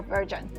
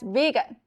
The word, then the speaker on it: vegan: who was taking orders, I mentioned that the actor was a virgin. Jay was so surprised and asked, "Eula, how do you know he's a virgin?" That's when I realized I had mispronounced something again. He only eats vegetables? Jay burst out laughing and said, "Eula, that's vegan."